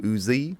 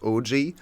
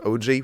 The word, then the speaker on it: Ouzi: So the way we can see it, and that's why we just read the name and pronounced him Uzi or Uzi. But he then later clarified that his name is actually the Japanese word for prince, which is usually actually written in Latin alphabet with OU or OOJY, because it's pronounced OG.